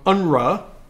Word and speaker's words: UNRWA: and I have the opportunity the invitation from unra as the acronym acronym is pronounced to travel to all of these areas